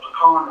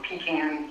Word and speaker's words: pecan: for we're the largest pecan or pecan, depending on where you're from and you pronounce it.